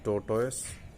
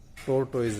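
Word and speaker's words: tortoise: ही हैड his private जू इन विच he kept ए टोटोस। इसको वैसे टोटस बोलते हैं, टोटस, टोर्टोइज नहीं बोलते, रियल प्रोनाउंसिएशन टोटस।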